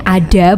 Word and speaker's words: ADHA: jadi ee ada iya Adha itu bacanya ada bukan Adha ya ada itu anak dengan